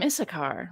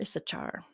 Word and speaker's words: Issachar: the reasoning there so she named him issachar or issachar whichever way you wouldn't pronounce that and Leah conceived again